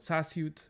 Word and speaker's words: sasute: low tone and then the other language is called sasute with high tone on both on both syllables yes uh queen depending